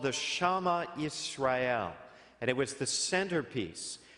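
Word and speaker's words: Shema Yisrael: I'm trying to pronounce that correctly because somebody corrected me. It was called the Shema Israel, and it was the centerpiece of Jewish prayer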